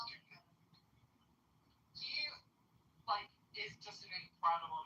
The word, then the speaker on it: Duggan: It's pronounced both ways, I've heard it, but I think I've heard it pronounced Duggan.